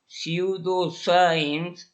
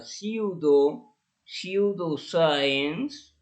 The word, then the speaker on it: pseudoscience: Ok, entonces aquí tenemos a pseudoscience. Aquí la pronunciación de esta E en inglés es como I.